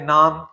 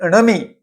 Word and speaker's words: णमी: बहुत से लोग और पुस्तिका में भी इसे नमी लिखा हुआ है। जबकि अर्ध मागि में णमी यह शब्द शुद्ध है।